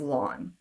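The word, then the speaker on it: ln: to put here um pronounce it as like your lawn in your front yard and whenever you see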